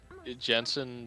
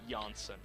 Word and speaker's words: Janssen: Because Who it's like Famke Jensen Janssen. dies in the Janssen. beginning, and It's Janssen.